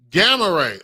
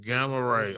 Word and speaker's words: Gamma Ray: Gamarray. Oh, like G like a fraternity like the Hulk. Gamma Ray.